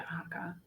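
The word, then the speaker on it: Haakaa: Yeah, Haaka.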